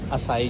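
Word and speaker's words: açaí: चलो जी, हमें इसकी प्रोनाउंसिएशन भी पता चल गई है। असाई juice, it's organic असाई juice, 499, इट्स नॉट बैड।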